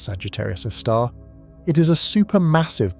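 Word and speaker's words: Sagittarius A*: Astronomers call it Sagittarius a star, pronounced Sagittarius a star.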